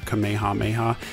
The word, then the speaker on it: Kamehameha: learned that there's actually some debate over the correct way to pronounce Kamehameha the English dubs have done it differently over the years some have pronounced it as Kamehameha or Kamehameha and others have said Kamehameha apparently that is the more correct way to say it I'm sure I'm gonna